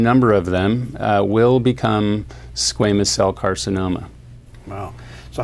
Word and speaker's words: squamous: How do you pronounce it? Squamous cell carcinoma.